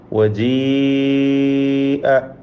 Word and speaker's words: وجيء: ആ പദത്തിൽ എഴുതപ്പെട്ടിട്ടുള്ള അലിഫ് ഉച്ചാരണത്തിൽ ഉണ്ടാവുകയില്ല, ഉച്ചരിക്കപ്പെടാത്തതാണ്. അതിൻ്റെ സൂചനയായിട്ടാണ് അതിന് മുകളിൽ ഒരു വൃത്താകൃതിയിലുള്ള ചിഹ്നം കൊടുത്തിട്ടുള്ളത്. അതുകൊണ്ട് യാ മാത്രമാണ് ഉച്ചരിക്കേണ്ടത്, അലിഫ് ഉച്ചരിക്കുകയില്ല. വജീഅ ബിന്നബിയ്യീന നൂൻ മുഷദ്ദദ ഷദ്ദ് നൽകപ്പെട്ട നൂനിനെ മണിക്കണം.